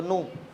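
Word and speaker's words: nu: page देखो जरा उसमें किधर तो मिलेगा तुमको न है क्या स्पेल पढ़ो जरा स्पेलिंग करो एन यू न ना न बोलते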